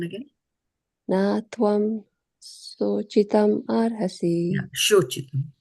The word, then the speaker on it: śocitum: Yeah, śocitum, like sho. Sure, okay. Sho. Sure. So it's like a H, kind of almost Yeah, a SH. yeah, it's a H. Yeah, it is a SH.